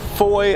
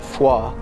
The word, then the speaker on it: Foy: between Bastone and the town of Foy I think locally they pronounce it foa and uh we are